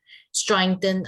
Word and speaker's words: strengthen: Strengthen our body or strengthen our bodies. Careful with your pronunciation of strengthen, by the way. Strengthen. You're adding like an A sound to it. Just strengthen. Strengthen. Good.